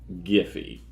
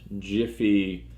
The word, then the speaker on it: Giphy: It's called Giphy, and yes, it's pronounced Giphy, not Jiffy or any other dumb way of saying it.